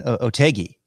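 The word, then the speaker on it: Otaegui: It was the Andalusian Masters, a guy by the name of Adrian Otegi.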